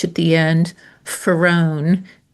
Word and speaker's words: Farone: Ferrron like far one.